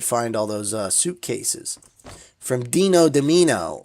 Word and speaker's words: Dean Domino: When I would find all those suitcases from Dino Domino, or as he liked to call himself, Dean Domino, which is definitely the wrong way to say his name.